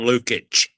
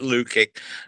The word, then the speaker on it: Lukic: goalkeeper came out Lucic John Lukic Jack pronounced it Lucick I thought we've done the hard it.